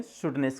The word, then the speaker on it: shrewdness: हैं और सेंटेंस देखिए इसमें आर साइलेंट है तो उसे बोलेंगे शुड नेस okay the स्टनस इज